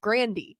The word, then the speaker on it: Grande: Ariana Grande the singer her last name was actually pronounced Grandy okay like her whole family pronounced the last name Brandy But like everyone just started saying Grande so she kind of